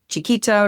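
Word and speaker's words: Xiquita: It's X I qu ui t a um chikita restaurantebar and it is from an incredible operator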